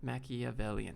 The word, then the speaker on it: Machiavellian: Very Machiavellian.